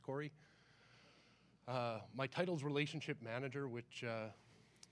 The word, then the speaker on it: Kaare: For you non-Scandinavians in the crowd, I assure you it's pronounced Corey.